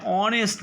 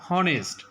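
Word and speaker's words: honest: যেমন এ house an অনেস্ট ম্যান, অনেস্ট নট হনেস্ট, ইটস আ pronounce like অনেস্ট।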